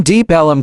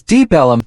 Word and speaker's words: Deep Ellum: The name Deep Ellum comes from local people pronouncing Deep Elm as Deep Ellum.